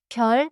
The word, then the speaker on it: 별: 별 means star. 별. The vowel is 여. So keep it different from 발.